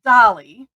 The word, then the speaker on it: Dahlly: step six um and then also pronouncing it Dolly and because that's what her dad used to call her when she was growing